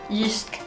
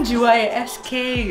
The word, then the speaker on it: JYSK: Yisk. Oh iya. Itu bacanya gitu ya? Gitu bacanya. Kirain JYSK gitu ya. Oh, Yisk.